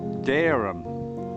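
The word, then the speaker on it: Dereham: about a place called darum in Norfolk it's pronounced darum but they've got a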